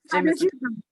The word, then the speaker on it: Jameson: Yeah, Jameson.